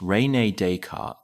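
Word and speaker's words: René Descartes: French philosopher Rene Deart, pronounced Renee Decart, theorized that the spirit existed independently of the physical form, a belief shared by many religions.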